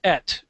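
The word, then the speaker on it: את: all over the Bible, and also that it's pronounced et.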